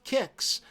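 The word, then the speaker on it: Qix: classic strategy the strategy action classic pronounced kicks this abstract game pits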